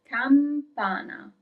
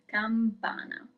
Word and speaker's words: campana: Bell is campana, campana. Do not forget the M, campana.